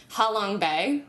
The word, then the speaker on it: Ha Long Bay: Ha Long Bay.